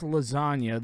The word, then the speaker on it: lasagna: When you pronounce lasagna, the G is silent, although it wouldn't have the y sound at the end if the G wasn't there.